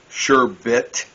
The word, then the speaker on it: sherbet: Sherbet. A lot of people put an R in there at the last syllable and call it sherbet.